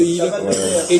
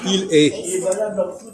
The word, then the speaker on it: il est: Quelle est la règle qui fait que EST, ça se dit est? Comme ET.